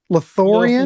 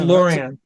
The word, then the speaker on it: Lothlorien: Um, I'm gonna pronounce it. Lothlorien. Lothlorien. Yeah, that's Lothlorien.